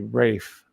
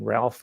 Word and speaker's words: Ralph: Ralph miliband in Britain it should be Rafe miliband Ralph is pronounced Rafe I don't mean to